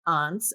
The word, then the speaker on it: aunts: capital, and that is aunts. I get that you say aunts and I say aunts. Clearly, we come from different parts of the country. Midwestern pronunciation, but Exactly.